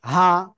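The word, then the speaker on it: حاء: ওকে, এখন আমরা যে অক্ষরটা শিখবো এই অক্ষরটা হলকের শুরু থেকে হা উচ্চারণ হবে।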